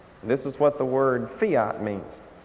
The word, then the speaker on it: fiat: This is what the word fiat means. I believe in America it's pronounced fiat, but this is a Latin word and it's pronounced fiat.